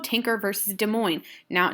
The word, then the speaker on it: Des Moines: So this is called Tinker versus Des Moines. Now, Des Moines is a city in Iowa. This is French, so some of these letters we won't pronounce, okay?